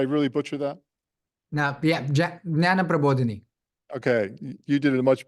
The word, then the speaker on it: Jnana Prabodhini: Chowkase is also the co-founder, and I don't know if I can't pronounce this correctly. You have to help me, Aakash. Jana Prabodini. Did I really butcher that? No, yeah, Jnana Prabodhini.